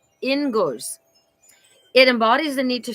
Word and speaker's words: Inguz: So it's pronounced inguz.